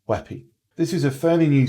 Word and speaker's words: WebP: b p format but it's actually pronounced as weppy this is a fairly